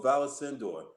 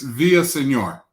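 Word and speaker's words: Villaseñor: sure and so now we've got chief roberto valasindor uh that will talk with us about community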